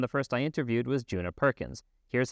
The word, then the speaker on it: Djuna Perkins: So, um, so my name is Juna Perkins. A lot of people wonder about my name. Um, I like to say that my the the D in my name is silent, but I am not.